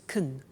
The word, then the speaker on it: can: can speak Spanish now notice the pronunciation of can becomes Caen she can she can